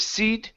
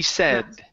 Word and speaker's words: said: so that last word instead of seed okay the word is said he said he he Sid okay open your M your mouth up just a little bit more instead of Sid say said he said he said okay that's better all right